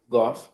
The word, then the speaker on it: Guelph: Guelph Circle? Goff. Okay. It's not spelled like Goff.